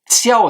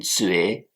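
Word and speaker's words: 觉: Bien, le deuxième caractère, peut-être vous vous en souvenez, qiao se prononce aussi zue.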